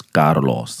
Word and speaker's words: Carlos: And he said, just make sure you pronounce the R and the L. So your name is Carlos.